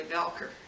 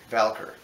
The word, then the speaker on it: Voelker: It's actually Voelker. Voelker. Yeah. Even though it's spelled V-O-L. It actually is O-E.